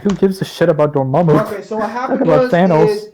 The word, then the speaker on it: Dormammu: Learn to figure out this guy's name and his pronunciation. It's Dormammu. Manu.